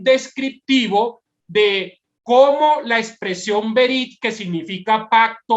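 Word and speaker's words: ברית: la expresión que ven en pantalla y se pronuncia de la siguiente manera: berit.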